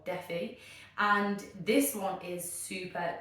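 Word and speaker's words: Dephi: The second one is, I think you pronounce it Defy, yeah, D-E-P-H-I or Defi, and this one is super duper scary.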